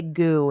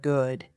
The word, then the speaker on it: good: Many learners drop the final consonant of words. They say goo instead of good, thin instead of fine, imperin instead of important. This makes your speech unclear.